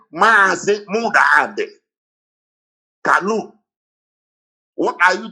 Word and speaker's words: Mazi: So to pronounce Mazi Namdekan, they wrote it M-A-A, Mazi. They didn't write M-A, they wrote Mazi.